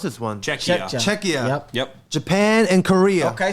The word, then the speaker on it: Czechia: How do you pronounce this one? Czechia.